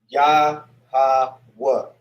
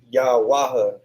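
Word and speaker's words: Yahweh: But the way you would pronounce it is like that. Yah ha wa. You know what I mean? So Next time you tune into this class, better not see you say Yawaha.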